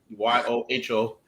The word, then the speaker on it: Yoho: tokyo black is a porter made from the yuhu or yahoo however you want to pronounce it oh copyright but you y-o-h-o brewing company in nagano japan this is their